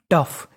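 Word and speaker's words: tough: तो मीनिंग बनी टफ। यहाँ पे ओ का उच्चारण हमें नहीं करना, ओ हमारा साइलेंट रहेगा।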